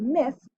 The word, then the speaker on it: myth: And in the word myth, we see that Y also makes a short I sound.